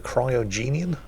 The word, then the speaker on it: Cryogenian: period, which featured an age known as the Cryogenian, I believe is how you pronounce it, which is basically the most severe ice age that Earth has ever known.